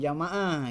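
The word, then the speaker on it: جماعة: kelas berikutnya ah bukan Jamaah ya Ijah Mia kalau alifnya setelah gym dibacanya Jami'ah Kalau alifnya setelah NIM jamaah Jamaah itu yang itu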